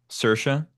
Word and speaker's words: Saoirse: I don't know how to pronounce her name, so forgive me. I want to go. Say wires Ronan. Saoirse.